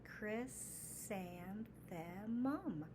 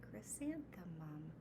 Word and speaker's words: Chrysanthemum: Chrysanthemum. Chrysanthemum. That's 4 sounds or syllables in this word.